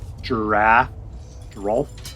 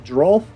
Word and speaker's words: Geralf: Geralf. I have to pronounce that L in there.